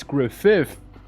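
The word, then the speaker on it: Gruffydd: Now the 2Ds at the end would be pronounced F. So it's Griffith.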